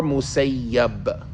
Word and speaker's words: al-Musayyib: On Sa'id ibn al-Musayyib or Musayyab. People disagree about how to say it, and there's a lot of them that say you should say Musayyab.